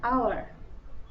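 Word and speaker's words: hour: অ্যান আওয়ার, তো এই আওয়ারটাও কিন্তু এইচ এর উচ্চারণ হচ্ছে না বেশি, আমরা ও এর উচ্চারণটা বেশি করছি, তাই জন্য অ্যান আওয়ার।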